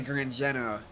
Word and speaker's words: Zeno: Nobody knows who Gran Zeno is and you said his name wrong. It's actually Gran Zeno. It's actually Zeno.